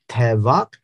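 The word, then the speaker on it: טבח: that you understand sevak the last two letters are the same with the same sound the first letter is the only one that is a variable song one is pronounced as which is sacrifice the second is pronounced as tevac which is Slaughter as you know Hebrew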